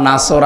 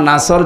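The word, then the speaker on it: نصر: ইজাজ নাসরুল্লাহি ওয়াল ফাত এখানে নুন সোদ র নাসর আছে নাসর মানে সাহায্য নুন সিন র নাসর যদি কেউ উচ্চারণ করে মুখটা গোল না করে স্বাভাবিকভাবে সিন দিয়ে তাহলে বাংলা অর্থ হবে যখন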